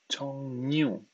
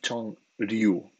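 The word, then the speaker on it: 종류: Atención a la pronunciación. Chongnyu. No es Chongryu. Cuando Nyun y Eryul se juntan así, se hace como una ñ.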